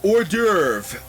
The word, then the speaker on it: hors d'oeuvre: uh Friday Junior uh hors d'oeuvre which by the way that is in no way pronounced how it is spelled saffron crap on cracker